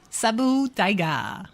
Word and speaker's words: Saber Tiger: Pronounced Sabu Tiger.